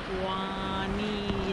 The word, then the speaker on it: Juanillo: It's called Juanillo Beach. I was close. Juanillo. I'm gonna call it Winona Beach. But if you're looking it up and you wanna visit here, you're gonna wanna look for Juanillo Beach.